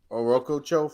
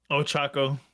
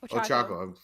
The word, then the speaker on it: Ochako: no, okay, no, my seventh spot would be Orokocho from My Hero. I think she's awesome. I love her. Right, that's how you say her name. Ochako. Ochako.